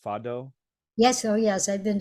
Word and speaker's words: fado: I think it's pronounced fado. Yes. Oh, yes. I've been to fado concerts, been to fado restaurants, been to, yeah.